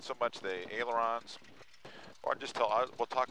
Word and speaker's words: ailerons: Ailerons. Aons. Ailerons. Aons. How do you spell that?